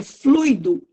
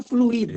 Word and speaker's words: fluído: ele pela última vez a pronúncia correta é fluído e não fluido eu vou falar errado